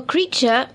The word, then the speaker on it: creature: Well, creature, although it rhymes with teacher, isn't spelt the same, first of all.